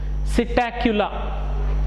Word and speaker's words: Psittacula: Then parrot, gili, it is Psittacula, P silent, it is not Psittacula, that is wrong pronunciation. Psittacula.